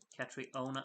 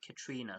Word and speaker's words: Katrina: Katriona, no, because Katrina has told me that you're supposed to pronounce it Katrina, so sit down, Darren. I know what I'm doing. Katrina herself said it's pronounced Katrina, so I'm gonna keep at it.